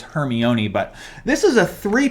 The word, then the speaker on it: Hermione: the hermione correct me if i'm saying her name wrong i said her name as hermoine for the longest time someone told me that's not right it's hermione but this is a three piece and i'm